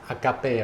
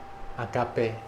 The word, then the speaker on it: agape: in Western culture that this term you pronounce as Agape right Agape it's a Greek term it's a GRE girl